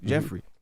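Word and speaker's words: Geoffrey: The Cosby Show Gregory Jeffrey Jeffrey his and no his his name is spelled weird yeah spell with a GFF almost like giop and you don't want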